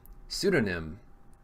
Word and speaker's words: Pseudonym: Pseudonym. Barg. The P is silent.